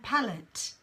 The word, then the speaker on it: palette: is palette palette and palette yeah so they have the same sound two different spellings the palette PA la